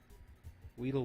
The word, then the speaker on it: Weedle: Weddle, Weedle. Weedle wobbles, but they don't fall down. Is it pronounced Weddle or Weedle? I actually do Weedle not waddle. know.